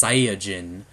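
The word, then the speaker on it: サイヤ人: But what we call Saiyans is actually pronounced Saiyajin in Japanese.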